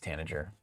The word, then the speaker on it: tanager: Soft G. What's a soft G sound like? Tenure. Good. Tenor. Like a J? Yeah, I think it's tanager. Tanager?